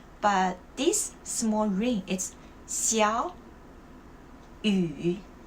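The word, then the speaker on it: 小雨: 小雨, when I say 小雨, I didn't say 小, I say 小. So you have to change the first tone. Why? When there's a rule, it's like it's decided. Okay, when the character, in one word, when the first character and the second character, they have the same third tone, you have to change the first character to the second tone.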